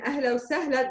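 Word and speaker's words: أهلا وسهلا: Notice in ahla wa sahla, there's no 7. So it's just the soft H.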